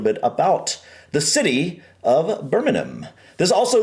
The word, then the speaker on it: Birmingham: We definitely say, Birmingham. we would call this Birmingham. As a matter of fact, we have Birmingham, Alabama, and that's how we would pronounce that. But I know you guys in the UK would say something along the lines of Birmingham. Yeah. The H seems to be a little bit silent.